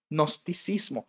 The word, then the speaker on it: gnosticismo: nombre gnosticismo lo oído nosticismo los gnósticos empieza con g y luego la n pero no se pronuncia la g los gnósticos gnosticismo cuya